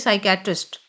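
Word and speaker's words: psychiatrist: लेकिन हम साइकेट्रिस्ट नहीं बोलेंगे। हम बोलते हैं साइकेटिस्ट।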